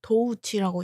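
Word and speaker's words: Doechii: 도우치라고 읽는 거라고 합니다. 도우치. 도우라는 거는 돈을 뜻하는 속어. 도우치.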